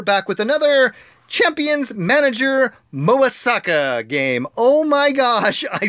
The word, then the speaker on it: Mobasaka: pari so we're back with another Champions manager MOA Sokka game oh my gosh I said it right